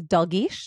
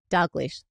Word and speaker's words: Dalgleish: But now your last name is Dish. Did I say that right? Dish. There's a tricky L in there that always gets mispronounced. D. Wait, say it again. Dog leash.